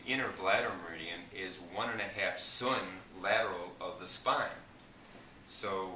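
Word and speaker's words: tsun: what we call in Chinese medicine a sun, T-S-U-N, pronounced sun, and it means body inch in Chinese.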